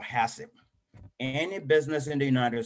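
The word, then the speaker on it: HACCP: what that mean is is pronounced as hassip and what that means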